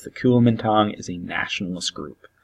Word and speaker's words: Kuomintang: and I know that's a big word it's pronounced Kulemin tom and you'll see it sometimes spelled differently don't worry about that just know that it's the Kuomintang is a nationalist group it's soon a sense